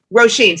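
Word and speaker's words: Róisín: But yeah, if you like Roseanne, how do you pronounce her name? Roseanne Murphy? Roisin.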